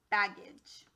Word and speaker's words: baggage: it's a schwa so bag first syllable second syllable gauge try for the real word baggage okay last word on this page do we